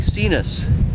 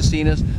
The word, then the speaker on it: Sinus: virus before and yes those terms look like they would be American pronounced differently but this is how we pronounce it so this is the cenus this is a motor